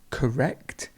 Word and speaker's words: correct: how the stress changes correct correct the stress is at the end and correlation correlation correlate